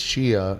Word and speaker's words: Shea: up s HEA Shea Shea Stadium right but then he called her Shea and then she went it's Shia and when you don't